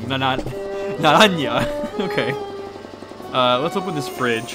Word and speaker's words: Naranja: Naranja.